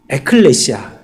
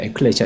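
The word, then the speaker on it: ἐκκλησία: 뭐라고 읽습니까? 교회를 여러분들 배우셨잖아요. 교회를 에클레시아 이렇게 부르잖아요. 에클레시아.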